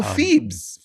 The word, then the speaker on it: Pheebs: the Oh, oh Phoebe's. It's called Phoebe's. It's Phoebe's, yeah. Okay. But it's spelled Pheebs. It's spelled weird.